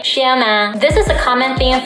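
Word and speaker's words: 小马: Both of the characters are third tone, but when two third tones are together, the first third tone becomes the second tone, so Xiaoma becomes Xiaoma.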